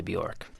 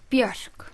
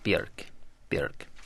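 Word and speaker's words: Björk: Even though most English speakers say Bjork, it's not really Bjork. It's Bjork. Bjork. Yep. I usually say it rhymes with jerk.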